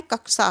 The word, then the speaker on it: कक्षा: है 64 नंबर का कक्षा शब्द का शुद्ध उच्चारण है तो क्या है कक्षा है क्या है है ठीक है ये इसका